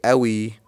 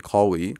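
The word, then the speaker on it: قوي: Because, for example, the letter that I'm showing you here, qaf, we pronounce it a, not qa. So we would say awi, right? Even if it's supposed to be qawi.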